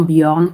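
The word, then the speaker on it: Bjorn: la Norvège, ces pays-là, c'est le nom Born qui s'écrit B J O R N.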